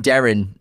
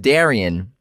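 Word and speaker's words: Derynne: They keep, we keep saying Darren, but it's pronounced Darian.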